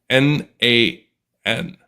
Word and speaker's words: n8n: And just pronounce it like the letters N8N. N8N.